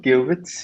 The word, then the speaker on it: qubits: is it is pronounced it's cubic so we pronounce it cubits yeah okay is it and why are they